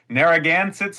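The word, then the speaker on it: Narragansetts: this research, but uh, Naragansits, Moheagans, and Peekquats is how I would pronounce those and they would pronounce them at this point.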